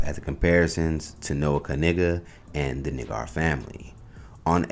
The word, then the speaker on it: Kniggas: The correct pronunciation was revealed to be Kniggas.